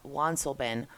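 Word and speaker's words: Wansleben: the German traveler Johann wansobin often called father van sled by the French in English because the letter W in German is pronounced like a V sometimes his name has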